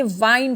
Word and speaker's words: wind: यहाँ पर आप सेकेंड लाइन में जो WIND देख रहे हैं, ये विंड नहीं है, ये वाइंड है।